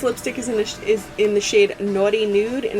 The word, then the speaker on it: Nauti: Now, this lipstick is in the shade Naughty Nude, and it's spelled N-A-U-T-I, nude. Almost like nautical nude, I guess, but it has pineapples on it.